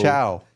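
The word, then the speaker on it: ciao: baby I don't know c i a o Chow Chow Baby Chow Baby Baby C it's c i a o that's how you pronounce or that's how you spell Chow oh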